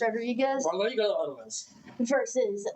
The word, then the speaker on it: Rodriguez: You gotta roll your R's. Rodriguez Well, you go otherwise.